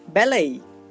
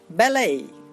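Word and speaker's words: ballet: Next টি, এই দুটি লেটারও এই সাউন্ড উৎপন্ন করে, যেমন বেলেই বেলেই। এই দেখুন এখানে কিন্তু আমরা টি পেয়ে যাচ্ছি আর এর উচ্চারণটা দিচ্ছে এই, বেলেই।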